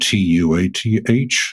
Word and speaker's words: Tuath: It's spelled Tuath, although it's pronounced like the TH is dropped, Tua.